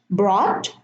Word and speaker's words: brought: So I'm going to read them again. Bought, no GH. Brought, silent. Fought, sought, and thought.